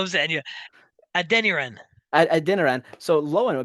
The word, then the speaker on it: Adeniran: So Lowen, a beautiful pass to um, Can you uh, pronounce his name? Samuel We'll call him Zanya. Adeniran.